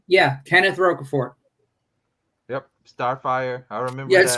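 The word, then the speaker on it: Rocafort: is next level anyway is that how you pronounce it roca ford yeah kenneth roquefort yep starfire i remember yes because i've seen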